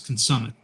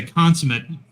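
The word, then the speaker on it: consummate: yeah another one was another word that it was an insta fail was consumit is that of consumit yeah if you say consumate you're done and and I think part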